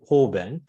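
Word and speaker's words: 方便: And in Buddhist texts, we have a term in Sanskrit, upaya, or in Japanese way of pronunciation, we call it hoben.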